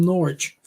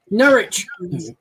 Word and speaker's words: Norwich: The Swedish style death metal from Norwich.